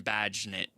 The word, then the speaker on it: Bagent: We're talking about Tyson Bagent. And Bagent. Rhymes with agent.